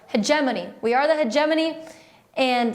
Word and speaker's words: hegemony: around again I'm sorry I've been pronouncing that word wrong since my first political science class I like I like heavy mony I like doing sounds better but hegemony we are the hegemony